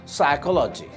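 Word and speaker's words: psychology: নিউমোনিয়ার ক্ষেত্রে silent P is there. Like সাইকোলজি, সাইকি, প্রত্যেকটা জায়গায় আপনারা পাচ্ছি পি ইজ সাইলেন্ট।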